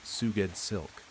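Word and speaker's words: Sgouedslk: S G O U E D S L K pronounced Suged Silk.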